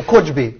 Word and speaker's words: khujbe: But you say kha, but kha doesn't exist in... Okay, right. So khujbe. Khujbe, yeah.